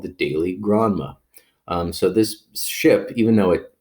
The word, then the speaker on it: Granma: Now, the Grandma is the name of the boat. It's probably Granma, not like I love my grandma.